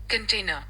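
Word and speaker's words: container: अब इसका पहले प्रोनाउंसिएशन सुन लेते हैं। कंटेनर कंटेनर। कंटेनर। कंटेनर। ठीक है? कंटेनर। आर जो है उसमें र की साउंड नहीं निकालनी है।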